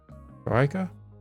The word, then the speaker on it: Troika: How do you pronounce that? Troika. I wish I would. Did I give the origin of the? Because I picked all. Yeah, it's Russian. It's Russian. Traditional Russian.